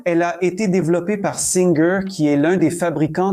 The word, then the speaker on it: Singer: Et oui, ça se prononce Singer comme le chanteur en anglais et non pas Singer.